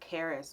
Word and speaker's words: Charis: however means grace so in Greek the name is pronounced Karras or what-have-you if I was speaking